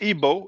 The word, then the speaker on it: Igbo: that name but maybe how about is it Igbo a name of a tribe because would that be it's pronounced IBO we don't okay now okay here's the name